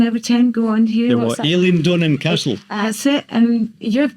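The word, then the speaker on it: Eilean Donan: Aileen Donan Castle.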